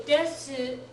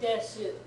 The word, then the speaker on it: です: So desu, although technically correct, is not the way most Japanese people say it most of the time. You will hear it sometimes that way. 2 instances where you'll hear it pronounced desu.